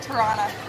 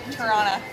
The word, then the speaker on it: Toronto: Toronto. Toronto? Oh, Toronto. Toronto. Toronto. Toronto. Toronto. There's a second T. I know. No, but you don't announce. Why is it there? With the A either? Toronto.